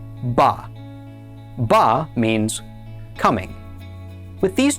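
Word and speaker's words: בָּא: This word is spelled Beit Aleph, and it is pronounced Ba.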